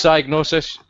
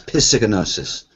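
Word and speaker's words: Psygnosis: No, it's not. It's Cyanosis, because there's an Amiga game that goes Cyanosis presents. Ah, but when I was a kid, I used to try and pronounce it. It used to come out as Piscinosis. Because my brain couldn't. Because people used to go, but it's a silent P.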